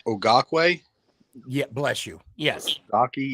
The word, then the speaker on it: Okereke: It's pronounced Okereke.